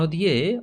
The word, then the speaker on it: the: আমরা জানি কোনো ওয়ার্ড যদি ভাওয়েল দিয়ে শুরু হয়, যেমন অ্যাপেল, এই অ্যাপেলের আগে যদি আমরা দি বসাই, THE দি, তার উচ্চারণ হবে দি অ্যাপেল। কিন্তু কোনো ওয়ার্ড যদি আমাদের কনসোন্যান্ট দিয়ে শুরু হয়, যেমন বল, BALL, বিটা কনসোন্যান্ট, তাহলে এখানে দি বসলে তার উচ্চারণ দ হবে, দ্য বল।